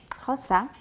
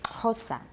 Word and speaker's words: Xhosa: Okay, Xhosa, and it's aspirated. Xhosa.